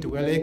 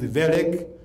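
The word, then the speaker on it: Wellek: So Wellick is spelled W-E-L-L-E-K. It is again a German name. You don't read it Welek, it is Welek.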